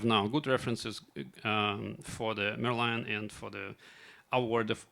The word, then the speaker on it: Merlion: Merlion.